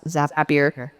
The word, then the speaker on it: Zapier: Zaps that's zapier. Okay. Zapier makes you happier.